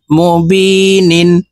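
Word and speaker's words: مُبِينٍ: বি নুন দুই নিন মুবিনিন বি এখানে তিন আলিফটা নুনকে সাকিন করে ফেলবো কারণ মধ্যে আরজি তিন আলিফটা নিয়ে পড়িতে হয়নি হামজাহ নুন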